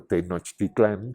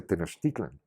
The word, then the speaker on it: Tenochtitlan: no no no no se dice por supuesto Tenochtitlán que es muy feo se dice Tenochtitlan suavísimo fácil de decir pasó eso Y entonces